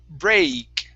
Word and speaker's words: break: right now right here what you're saying is Bri Breck instead of with an E start off with an a sound a br break break break okay so